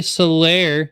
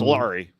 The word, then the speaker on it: Solari: I do believe we have Soler. Soler, that's how you pronounce that, correct? It's actually Solar E. So I am Solari, like Volari, like the old Italian song.